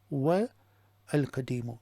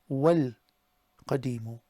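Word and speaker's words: والقديم: Now normally what happens is if there's a wa and the word after it has a definite, you just ignore the alif. So here it becomes Al Baytu Al Ahmaru wal Qadimu.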